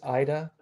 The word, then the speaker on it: IIDDA: this thing called the international infectious disease data archive which doesn't exist yet pronounced Ida um and it's work